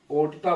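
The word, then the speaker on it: aorta: गया, और यही देखिए AO, अरोटा, है ना, अरोटा, ओर्टा बोलते हैं, ओर्टा, कुछ ऐसा है स्पेलिंग इसका, ध्यान देखिएगा।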